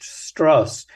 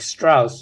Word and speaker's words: Strauss: character of Ls struss he makes a point of having his name pronounced struss so that it doesn't sound like Strauss and people think he was Jewish I mean lots of